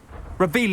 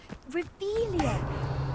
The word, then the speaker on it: Revelio: Revelius. You're saying it wrong. Ugh, Revelia. Much better.